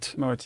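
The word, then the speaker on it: Moët: you mentioned God so Freddie Mercury pronounced it wrong I get my pronunciation from Killer Queen oh he says because pretty dinner yeah she keeps a moe Shandon but it's Moet yeah it doesn't flow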